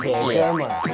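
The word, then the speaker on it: 铁哥们: 铁儿不用加儿化音，铁哥们儿，铁哥也不用加，好朋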